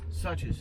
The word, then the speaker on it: Suches: Suches, yes, sir.